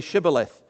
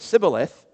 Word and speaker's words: Shibboleth: If he replied, "No," they said, "All right, say Shibboleth." If he said Sibboleth because he could not pronounce the word correctly, they seized him and killed him at the fords of the Jordan.